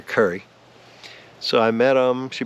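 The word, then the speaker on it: Kure: it's actually Carolina beach not Curry which is K re e uh but that's how they say it down here Curry so I met them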